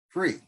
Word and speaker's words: FURE: she came up with f-u-r-e-e-e free like to pronounce it and with the u silent so i looked at